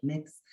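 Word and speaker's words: Mx: or Miss, and it's pronounced like mix.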